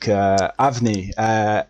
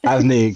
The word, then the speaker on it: Avni: Avni, is that how I say it right? Just because that's how I'm gonna keep saying your name. Yeah, that's correct. All right, Avni, go for it first.